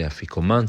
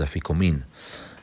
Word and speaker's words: Afikoman: Some say Afikoman, some say Afikomen. Our Syrian custom is Afikomin. And the Afikomin is the last food a person eats that night. What's the function of the Afikomin?